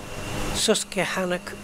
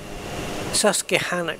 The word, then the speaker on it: Susquehanna: beginning of oh God am I supposed to pronounce that uh s-u-s-q-u-e panic Susquehanna State Forest and Sprout is that Sprout or